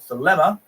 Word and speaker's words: Thelema: I'm assuming so, but that's what it's called, Thelema. Alternatively pronounced as Thelema, derived from the Greek word for will.